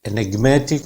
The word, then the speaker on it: enigmatic: enigmatic में माँ sound पे स्ट्रेस आएगा. enigmatic, matic यहाँ पे.